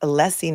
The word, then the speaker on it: Alessi: Brennan, it's pronounced Alessi, not Alisi.